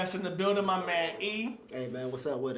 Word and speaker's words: Eay: um so i go by the name e that's spelled e-a-y i just pronounced it as e you know